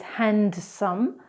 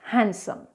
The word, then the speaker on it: handsome: Another word is handsome. So incorrectly is handsome, but it's actually pronounced handsome, handsome.